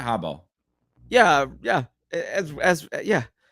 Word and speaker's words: Harbaugh: I saying it right Hab yeah yeah as as yeah I mean you're you're saying Hab which like in Australian is Hara yeah yeah so it's